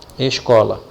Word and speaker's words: escola: Então, eu tenho que identificar qual dessas 3 sílabas é lida com mais intensidade. Ela, escola é a sílaba có. Então, a sílaba có é a sílaba tônica.